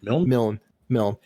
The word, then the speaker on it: Milne: How you pronounce his name? Milne.